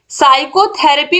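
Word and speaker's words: psychotherapy: इन the word साइकोथेरेपी साइकोथेरेपी में आप देखिए जो पी वर्ड है यह क्या है साइलेंट है क्वेश्चन नंबर 70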